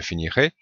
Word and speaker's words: finirai: Alors en théorie, il y a une petite différence de prononciation pour le futur. Ici à i on entend un e un peu plus fermé qui correspond au e accent aigu.